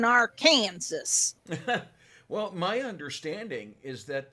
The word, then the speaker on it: Arkansas: visit and they're like we don't live in no damn arkansas we live in our kansas well my understanding is